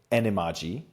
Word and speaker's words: Animagi: Number 4, Anime Guy, or as Jim Dale pronounced it, Animagi.